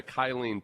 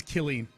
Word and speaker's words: Killeen: Yeah, it's the 5th largest city in the Kylene Temple metropolitan area. I didn't even know. No, it's Killeen. Yes, that's how people who aren't from Texas pronounce it, Sean.